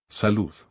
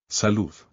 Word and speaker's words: salud: Salud. This word doesn't end in a vowel, N, or S, and has no accent, so the stress is on the last syllable. Salud.